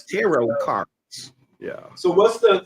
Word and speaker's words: tarot: a few times yeah teror last is silent said good tarot cards yeah so what's